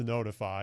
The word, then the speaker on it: ntfy: It's actually pronounced Notify. It's NTFY.